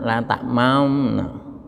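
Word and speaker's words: لا تأمنّا: La ta'manna, la ta'mamna. Tulisannya la ta'manna. Ya, tapi lalu bacanya la ta'mamna.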